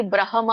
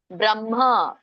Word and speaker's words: ಬ್ರಹ್ಮ: ಸಯೋಗಿ ಬ್ರಹ್ಮ ನಿರ್ವಾಣಂ ಬ್ರಹ್ಮ ಇಲ್ಲಿ ಬ್ರಹ್ಮ ಅಲ್ಲ ಬ್ರಹ್ಮ ಎದೆಯಿಂದ ಬರಬೇಕು ಅದು ಹ ಅಂತ ಈ ಆ ಇದರಲ್ಲಿ ಇದೆ ಸಂಸ್ಕೃತದಲ್ಲಿ ಸೋ ಹಾಗಾಗಿ ಬ್ರಹ್ಮ ನಿರ್ವಾಣಂ ಅಂತ ಹೇಳಬೇಕು ಆಮೇಲೆ